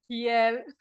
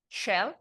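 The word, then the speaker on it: Kjell: It's my pleasure to introduce Kiel, as we pronounce his name, but now I ask him to repeat the correct one. Shell.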